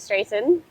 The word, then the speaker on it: Straiton: Um I am joined by the awesome David Straighten. Did I Hello everybody. Yes, you pronounce it correctly.